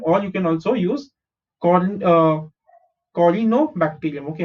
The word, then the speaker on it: Corynebacterium: you can also use Corynebacterium. Okay, how do you pronounce this? C-O-R is cor, Y is E, N-O is no, bacterium, Corynebacterium.